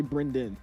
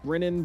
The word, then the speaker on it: Brendan: It's just nobody can say Brendan. They say Brennan. Brandon. Braden. It's like it's not even that hard, bro.